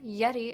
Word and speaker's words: Yetee: Just remember, Yeti is spelled YETEE.